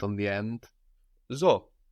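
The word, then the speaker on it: ζω: accent on the end zo I live like in zoo like in the name in English Zoe and zo also counts as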